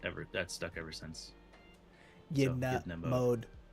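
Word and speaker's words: Ydna: Yedna mode. Like Edna mode.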